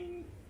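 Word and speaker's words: 小新: En fait, c'est marrant parce que Xiaoxing, c'est attention, mais son pronom, c'est le même, tout à fait la même prononciation que attention, Xiaoxing.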